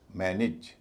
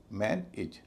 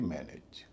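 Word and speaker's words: manage: यहां पर भी एज इ जो है ऋषि कपूर बन जाएगा और उसका उच्चारण एज ना होके इज होगा। इस पूरे शब्द का उच्चारण होगा मैन इज। मैन इज ना कि मैन एज।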